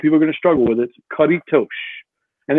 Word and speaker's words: Caretos: to struggle with it karitosh and it's like a tush almost and what this game